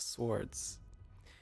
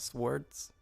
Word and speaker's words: sword: by charis's day of swords why did i say that's so weird sword it's not swords i'm pronouncing why am i pronouncing the w it seems that any